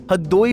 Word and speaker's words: हरदोई: देखने को मिलता है यहां के बुजुर्ग आज भी हरदोई को हद्द दोई मिर्चा को मिचा जैसे शब्दों से उच्चारण करते हैं अनुवांशिक तरीके से कई